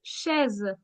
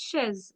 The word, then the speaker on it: chaise: CH, I told you, is pronounced as sh. So it's cheval. It's chaise. If you remember, it's chaise.